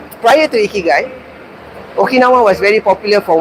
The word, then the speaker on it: Ikigai: Now, Ikigai comes from the word Iki and Ka-I, pronounced as Ikigai.